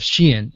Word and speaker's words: Sheehan: So it's Jeff Sheehan, and I apologize to Jeff.